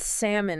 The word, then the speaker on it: salmon: And salmon is a great example. Oh, yeah. Salmon. Classic. Yeah. A lot of people put that L in there, right?